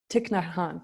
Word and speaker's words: Thich Nhat Hanh: Thich Nhat Hanh.